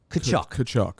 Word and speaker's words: Tkachuk: The T is silent. Tkachuk.